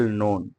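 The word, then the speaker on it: known: इस यू में well नोन यू में well no नो no mean जानना आप अच्छी तरह से जानते होंगे नो यहां के साइलेंट है लिखते जरूर हैं पढ़ते नहीं ठीक है यू मे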